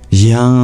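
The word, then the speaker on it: yaṃ: It's pronounced like YAM.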